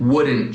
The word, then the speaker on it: wouldn't: formam com apóstrofo couldn't, wouldn't, shouldn't. E notem que eu não estou pronunciando o T no fim, né? Couldn't, shouldn't, wouldn't.